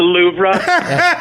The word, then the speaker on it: Louvre: Did you know that it's not pronounced the Louvre? Pronounced the Louvre.